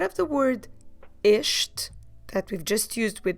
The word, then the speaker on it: estes: guess we have two we have the word ish so we start with the sound ish and we finish finish with the sound ish how do we spell it e s t e s ish and that will be